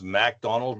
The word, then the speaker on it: MacDonald: It's MacDonald, not McDonald. It's MacDonald, I know.